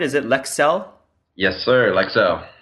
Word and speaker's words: Lexell: So, yeah, let's dig into the meat of today's discussion, which is, am I pronouncing it right? Is it Lexell? Yes, sir. Lexell. Lexell.